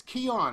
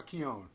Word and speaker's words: Keone: good about yourself brother its key on right now key on TI rhymes with like great like it like a key yeah browse it Breo